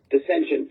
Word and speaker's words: Desentience: How do you pronounce that? Descensions.